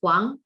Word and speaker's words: Huang: is or actually my last name is actually hang but I understand people in the US might not get used to you know pronouncing that hang no problem and uh